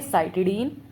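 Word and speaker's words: cytidine: तो उनको सीन में प्रोनाउंस नहीं करेंगे। उनको करेंगे साइटडीन, साइटडीन, यूरडीन, यूरडीन एंड थाइमिडीन।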